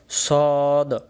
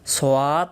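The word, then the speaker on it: صاد: সদক্ষর, পরের অক্ষর হলো সদ। আমরা ছোটোবেলায় মক্তবে এটাকে আমরা অনেকে পড়ছিলাম সোয়াদ দোয়াত, সোয়াদ দোয়াত, তাহলে আমরা সোয়াদও না দোয়াদও না, সঠিক উচ্চারণ সদ, বলেন টান দিয়ে বলেন সদ, আবার বলেন সদ।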